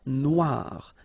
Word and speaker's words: noire: Then here, la mer Noire. Same thing here that we had previously. Final E not pronounced, okay? And then OI, remember, wa, noir, noir.